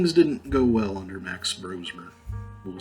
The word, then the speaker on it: Brosmer: and I saw Max Brosmer, which I guess it's pronounced Brosmer and not Brosmer, which I was disappointed to learn. I thought it was Brosmer.